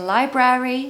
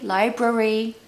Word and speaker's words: library: can hear people saying library library but no it's Library the hack is that the second syllable is the French cheese Brie it's the same pronunciation so lie Brie Library